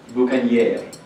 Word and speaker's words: boucanier: That, in the phonetics of the era, was not how we pronounce it today. They called it boucanier, because Old French had different cadence and phonetics than it does today.